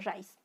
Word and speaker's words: raíz: tengo la palabra raíz uno que dice raíz ya qué pasa ya si suena más fuerte la vocal débil le doy un premio su premio es la tilde a boca el débil